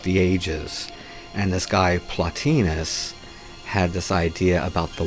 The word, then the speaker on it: Plotinus: I used to pronounce it Plotinus until I heard Terence McKenna pronounce it as Plotinus.